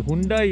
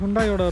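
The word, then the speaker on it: Hyundai: நாங்கள் அவங்ககிட்ட பேசுகிறோம் பார்த்து அது ஹுண்டாய் இல்லை ஹுண்டே அப்படின்னு சொல்லிட்டு எங்ககிட்ட வந்து அப்புறம் சொன்னாங்க.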